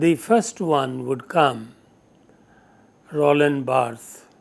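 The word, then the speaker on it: Roland Barthes: So among these the first one would come Roland Bart. B A R T H E S. In French the last syllable remains silent in speech.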